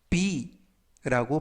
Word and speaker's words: bee: 이번 표현은 be 이 발음을 약간 길게 해서 be라고 발음하시면 되겠고요.